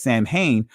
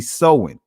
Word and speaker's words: Samhain: it and say um pronounce this word as samhain but it's actually sowing all right so halloween